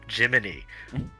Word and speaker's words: Gemini: I don't know what it looks like, but it's spelled like Gemini, but it's pronounced Jiminy.